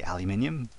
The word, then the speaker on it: aluminium: If I change the voice back to David, however, you have selected, and then make David say aluminium.